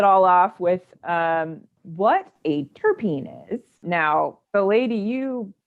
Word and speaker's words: terpene: off with what a terpene is. Now, the lady you learned about, had your initial introduction into terpenes with, she said it terpen, right? She said terpen. So I've always heard it as terpene, but so if anybody